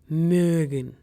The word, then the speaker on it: mögen: Now pause this video and try to pronounce it. It's called mögen, which is a German word for to like.